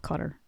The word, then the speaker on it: Qatar: So, but apparently that's how they say it over there.